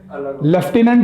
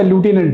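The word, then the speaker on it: lieutenant: तुम्हारा pronunciation लेफ्टिनेंट है या लूटिनेंट है? हाँ, दैट इज यूके का है वो English. ल्यूटिनेंट is American English. Pronunciation दोनों का अलग अलग है.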